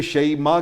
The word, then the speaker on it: شیماء: واہ واہ، سیدہ شیماء، عربی میں اسے شیماء کہتے ہیں اور ہم اپنے اردو پنجابی میں شیماء کہہ دیتے ہیں، بالکل ٹھیک ہے، لیکن اصل اس کا تلفظ ہے سیدہ شیماء رضی اللہ تعالی عنہا۔